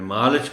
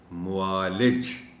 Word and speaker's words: معالج: آ رہا ہے کہ میں نے اس لفظ کو غلط تلفظ کے ساتھ پڑھ دیا تھا، میں نے معالج پڑھ دیا تھا۔ یہ لفظ درست تلفظ کے ساتھ ہے معالج۔ اب اس کا ایک